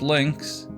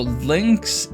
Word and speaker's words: Lynx: So Lynx is really Linux, but but with the Japanese, you don't pronounce all all of the U's. So it's Lynx.